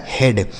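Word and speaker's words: head: तो इसीलिए हमें यहां पर इ और ए का उच्चारण इ कर नहीं करना है ना तो बड़ी ई की मात्रा करना है बल्कि हमें ए की मात्रा कर देना है।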